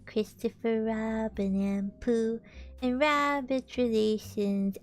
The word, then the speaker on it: Robin: I'm sorry shinka but I think you're mispronouncing Robin isn't it Christopher Robin isn't that how you say it until how say Christopher